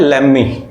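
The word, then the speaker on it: lemme: again next word है लेम मी इसका spelling देखिए एल E double M ई इसका अर्थ होता है लेट प्लस मी इसको हम लोग लेम मी बोलते हैं जैसे एक सेंटेंस है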